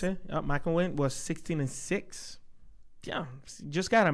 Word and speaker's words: McElwain: Gene McElwain, that's how you pronounce it. McElwain was 16-6.